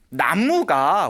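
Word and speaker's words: 南無: 나무가 원래 우리가 발음으로는 쓰기는 남무라고 쓰지만 읽기로는 나무라고 읽잖아요.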